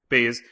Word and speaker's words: Baze: And then Baz, right? Baz? Am I saying it right? Bees, yeah. Baze, was obviously the more like, hard-headed, not hard-headed, but cynical, right?